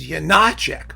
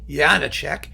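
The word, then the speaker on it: Janáček: getting into Janacek that people were insisting his name was Janacek. Why? Because there's an accent over the A, even though in Czech, first syllables are all supposed to be stressed.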